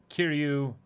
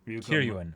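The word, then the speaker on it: Kiryūin: But that's a particular bout in Kill la Kill of Kiryu Satsuki versus wait, hold on. Kiryuin.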